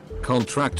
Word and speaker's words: contract: Stress on the last syllable is a verb. Examples. Okay. Contract and contract.